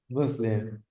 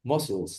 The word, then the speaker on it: muscle: Muslim. Missiles. No. Missiles. Missiles are the ones. The pronunciation of of of that muscles. No. Moscels. No. muscle. Muscle. That's the correct pronunciation.